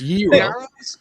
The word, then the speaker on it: gyros: You guys with your your East Coast pronunciation. It's year-ohs.